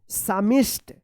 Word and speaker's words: psalmist: अब देखिए यहाँ पे PSALMIST, यहाँ पे भी पी साइलेंट, यहाँ पे भी पी साइलेंट। तो क्या पढ़ेंगे? क्या पढ़ेंगे? सामिष्ट, सामिष्ट पढ़ेंगे, सामिष्ट। क्या पढ़ेंगे?